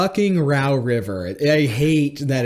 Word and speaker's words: Row: row your boat down the rau River I hate that it's pronounced like that it is know how to